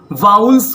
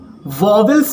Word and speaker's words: vowels: इसके अलावा कुछ लोग वाउल्स को वॉवेल्स भी पढ़ते हैं, जो कि एकदम गलत है। जब आप ऑक्सफोर्ड डिक्शनरी में इस वर्ड का उच्चारण चेक करोगे तो आपको वॉवेल जैसा कोई भी उच्चारण देखने को नहीं मिलेगा। आपको क्या मिलेगा? वाउल्स ही मिलेगा।